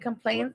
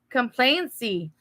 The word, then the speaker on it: complacency: Complaints. Complainty. complacency which is a lack of discipline or the spiritual apathy often described in the Bible as becoming dull of hearing.